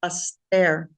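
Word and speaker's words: ἀστήρ: So the Greek Hebrew definitions from Strong's is aster, pronounced aster, probably from the base of 4766, a star, as strewn over the sky, literally or figuratively, a star.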